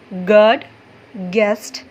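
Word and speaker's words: guess: अभी देखिए जी after you is silent. यह आपने याद रखना है। जी के बाद जभी भी यू आएगा ना वो साइलेंट होगा। गस्ट गेस guilty.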